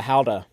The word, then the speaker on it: Gouda: get some how that you know it's not pronounced gouda it's how to yeah howda yeah how do you do that's what that's what our tour guide guide was telling us like it's actually pronounced how to i was like how do you say that